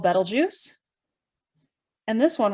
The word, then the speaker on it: Betelgeuse: constellation orion this one right here is called betelgeuse and this one right here is called rigel now i said betelgeuse now i know sometimes called people pronounce it as beetlejuice but it's better juice but hidden within the